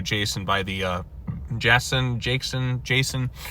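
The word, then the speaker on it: Jecen: by the Jason Jayson Jason. I'm going to say Jason's how you pronounce it j e c e n.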